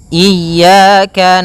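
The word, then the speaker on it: إِيَّاكَ: Pada lafal ya ini hati-hati dalam pelafalannya ada dua kesalahan yang sering terjadi. Yang pertama yaitu dia memanjangkan iya. Nah, seperti itu harusnya dia ee ditekan dan dilembutkan. Iyaka. Iyaka. Nah, kemudian jangan sampai dibaca panjang.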